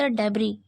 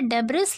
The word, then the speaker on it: debris: Trapped under the डेब्री, डेब्री का अर्थ होता है मलबा। यहाँ पे डेब्रिस लिखा है लेकिन करेक्ट प्रोनाउंसिएशन होता है डेब्री।